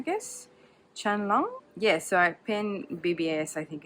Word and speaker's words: Qianlong: Okay, so this is Emperor Qianlong. Because I know QI is pronounced like Qi, I guess. Qianlong.